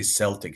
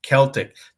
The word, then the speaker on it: Celtic: The Irish Celtic harp, don't say Celtic like the American basketball team. Americans always say Celtic. This is incorrect. It should be a hard C. Celtic.